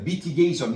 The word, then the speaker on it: mitigation: mitigation. 이거 아니에요. 알았어요? I라도 어 발음이 날 때가 있어요. 근데 어와 의의 중간 발음이야. mitigation. 이거 원어민들이 할 때 mitigation. 이렇게 들릴 거예요.